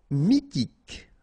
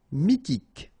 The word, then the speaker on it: mythique: Mythique. Remember, Q-U at the end, K, okay, and then Y is pronounced like I. Mi, H is not pronounced. T, K. Mythique.